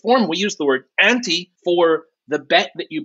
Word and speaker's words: ANTE: here at OSP and this code anti we spell it a-n-t-e I'm multilingual and one